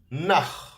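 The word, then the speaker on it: נָח: You can see the letter nun, which is pronounced as n. Okay, with a kamat, so it's a, na, and the letter chet, ch. Nach.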